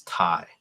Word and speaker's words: Thai: They spell it with a TH, so it's Thai.